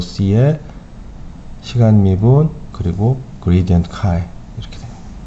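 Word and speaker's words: χ: 시간 미분 그리고 그레디언트 카이 이렇게 됩니다. 자, 요거 X라고 읽지 않고 이제 카이라고 읽어요.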